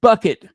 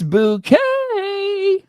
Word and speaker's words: Bucket: Bucket. It's bouquet. It's bouquet. Actually, actually it's bouquet. You got to get it right. Yes, it may be spelled bucket, but it is pronounced bouquet.